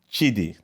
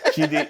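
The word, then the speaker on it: Chidi: a seed okay uh my name is chidy uh can you pronounce that chitty that's cool I like that can you no chy Chey is fine just call me Chey Chey yeah same thing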